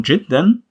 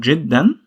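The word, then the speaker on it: جدا: And you can find it also with the form jiddan, which means very.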